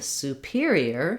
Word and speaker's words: superior: there i have a clear vowel the first syllable is stressed so it sounds like super but then in superior superior instead of that ooh for super my